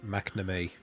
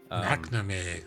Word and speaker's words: McNamee: So the correct pronunciation is McNamee. McNamee.